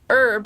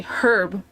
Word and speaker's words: herb: It's like It's like how instead of saying herb, which is how you're supposed to say it because it's a French-based word, and they don't pronounce the H in it, they say herb.